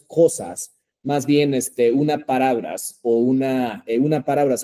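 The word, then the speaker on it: を: Pero aquí sería wa, wo, entonces sería wo, ¿desu ne? Sin embargo, Lupita-san, aunque dice wo, digo o, O sea, entendemos.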